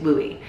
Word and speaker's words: Louis: Louis's name is Louie. And it's spelled with an S because when I first got him, I was reading a biography all about Marian Twinette.